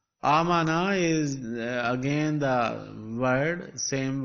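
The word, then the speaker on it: آمن: There are two alifs now. One is written as a hamza, the other as silent.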